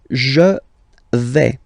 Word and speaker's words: je vais: The first form is je vais. Okay, so remember, final S not pronounced here.